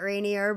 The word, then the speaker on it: Rainier: I think some people that don't I think there's people out there that call it rainier, but we'll go with Reneer. Yeah. Yeah, we'll go with Reneer.